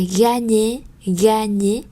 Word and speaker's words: gagner: De l'actrice, à la danseuse, à la danseuse, à l'épouse, la meilleure, gentleman cambrioleur, à gagner. Các bạn thấy có chữ G và chữ N, chúng ta đọc là nhờ nhé.